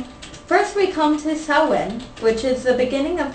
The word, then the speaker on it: Samhain: Samhain is pronounced, Samhain.